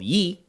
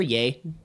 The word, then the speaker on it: Ye: his newest album called Yi or yay depending on how you pronounce it how do you spell